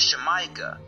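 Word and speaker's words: Xamayca: Well just like in Mexico the X is originally pronounced S H. So the original pronunciation was Shemaika.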